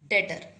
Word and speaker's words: debtor: Next term is debtor. B is silent here. Debtor, not debtor.